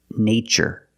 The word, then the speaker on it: nature: In the first word, we use the long A, like day and say, nay, nature.